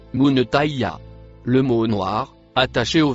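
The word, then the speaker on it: منتهاها: Le mot en vert et noir se prononce munetaya.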